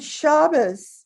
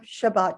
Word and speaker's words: Shabbos: hearing the service because they used the ashkenazi pronunciation that we spoke in my congregation when i was growing up good shabbos instead of shabbat shalom which still sounds foreign to my ears this